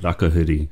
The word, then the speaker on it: Rakahuri: Have I pronounced that correctly? Ai, Rakahuri.